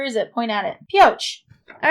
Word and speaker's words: Pioche: first where where is it point out it Pioche all right I did pronounce it right okay well crossing this pest